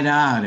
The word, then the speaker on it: doubt: La B de doubt no la pronunciamos y al reducirlo queda do. I doubt it.